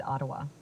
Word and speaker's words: Ottawa: the correct pronunciation is Ottawa all right awawawa sorry y uh redo Canal Skateway I'm using the wfr map here it's pronounced with the emphasis on the first syllable yeah thank you enough